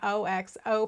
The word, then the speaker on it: OXO: And she called it an OXO pattern in terms of she wrote it out with a capital O, capital X, capital O.